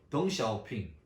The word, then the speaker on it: 덩샤오핑: 예를 들면 중국 사람 이름도 목사님 어릴 때는 한자 발음으로 했어요. 등소평, 모택동. 근데 지금은 중국 발음으로 들어쓰죠. 덩샤오핑, 마오쩌둥.